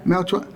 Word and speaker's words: Melchor: Melchor.